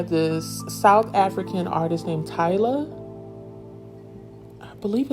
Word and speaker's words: Tyla: Because I'm like, Jaleesa, you should have went and found out how to pronounce the name. It's okay. It's Tyla.